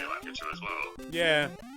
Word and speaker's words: Lakitu: He's called Lakitu, or as everyone else in the world pronounces it, Lakitu, but I refuse. Because I've always known him as Lakitu and I'm not saying anything else. I think it might be a British thing. I say Lakitu as well.